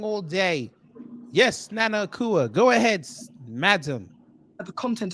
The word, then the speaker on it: Nana Akua: I've been saying her name wrong all day. Yes, Nana Akua.